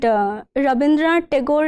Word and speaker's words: Rabindranath Tagore: Sir, Rabindranath Thakur is how it is pronounced in Bangla, and Rabindranath Tagore is the anglicized version of the same name.